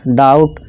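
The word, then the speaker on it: doubt: जैसे देखिए, TOU डाउ, और ये बी साइलेंट रहेगा, और टा डाउट, इस तरह काउंट, आओ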